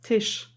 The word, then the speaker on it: Tish: I have also German people watching my videos, but her name Tish is a German word and it's pronounced the same. It's Tish, and it means table. So every time they call her Tish, I'm thinking of a table.